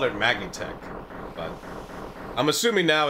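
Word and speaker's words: Magitek: It's pronounced Magatech? No, it's pronounced Magitech.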